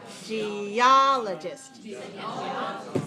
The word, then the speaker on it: geologist: all right okay so which one started best geologist right geologist second syllable okay okay how about